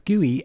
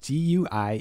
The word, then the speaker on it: GUI: desktop environment it's a gooey no it's not gooey as in sticky it's gooey as in graphical user interface huh because that's how I pronounce it you can say GUI if you want but